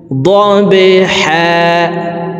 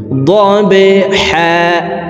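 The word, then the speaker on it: ضَبْحًا: ওয়াল আদিয়াতি, দিয়াতি, জিহ্বার মধ্যখান থেকে ইয়ার উচ্চারণ হবে, ওয়াল আদিয়াতি দবহা। বা কলকলার হরফ নিচের দিকে ধাবিত করে ধাক্কা দিয়ে উচ্চারণ করব, দবহা।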